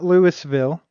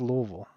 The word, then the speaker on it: Louisville: you know it's it's it's not Lewisville it's not Louisville it's Louisville I don't know how